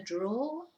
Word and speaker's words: drawer: any pens in the drawer? Aren't there any pens in the drawer? So bolígrafos is pens. Cajón is drawer. It's spelt D-R-A-W-E-R, pero se pronuncia draw, not drawer, ¿vale?